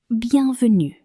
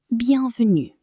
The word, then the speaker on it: bienvenue: So, as I was saying, remember to emphasize the last syllable of French words. So far, we've had bonjour. Bonjour. Which means hello. Bienvenue. Bienvenue.